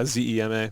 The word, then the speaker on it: Zema: Yeah, Zema. Yeah. Sounds like the drink, but it's spelled different.